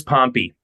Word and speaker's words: Pompey: beginning and because I've always heard it as pompy it is it is pompy okay yeah and I I give it to